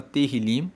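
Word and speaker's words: תהילים: O livro de Salmos no hebraico se chama terilim. Se escreve T E H I L I M.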